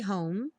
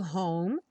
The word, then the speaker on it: home: como All I'll be home for Christmas e o home sem pronunciar o e nada de home a